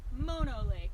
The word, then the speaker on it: Mono Lake: But it's pronounced Mono Lake, like mowing your lawn.